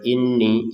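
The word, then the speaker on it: إِنِّي: Nun bertasdid kita dengungkan dua harakat saja. Jadi untuk jedanya dua harakat. Inni. Jadi jangan sekedar inni.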